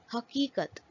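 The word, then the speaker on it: حقیقت: Chhoti Ya is also known as Ya-e-Maroof when the sound produced by Chhoti Ya is E. For example, Badi Hey, Badi Kaaf, Chhoti Ya, Badi Kaaf, Te, Haqiqat, reality.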